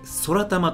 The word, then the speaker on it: 宙玉: 空たですえ宇宙の中に玉と書いて空玉と読みますえ正式名称は